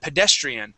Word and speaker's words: pedestrian: And then pedestrian. The accent goes right here on this e. Pedestrian. Pedestrian. Pedestrian.